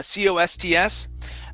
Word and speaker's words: costs: and listen though okay if i would say that the word costs uh c-o-s-t-s uh i usually don't pronounce that t i usually say um what are the costs for this for this